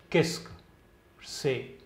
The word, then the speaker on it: Qu'est-ce que c'est: Kesk, itne ka pronunciation hua. Kesk, se.